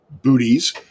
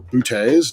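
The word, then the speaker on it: Boötes: arcturus in the constellation of booties or bootays depending on how you want to pronounce that you've got vega in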